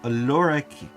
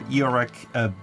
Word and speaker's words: Iorek: In this case, the character from Lorek or Iorek Bernison. I just found out that I've been mispronouncing their name for the longest of times because the small and the long letter I are different.